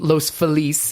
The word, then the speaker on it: Los Feliz: But I'm doing it at Rockwell, which is in Los Feliz, is how they pronounce it.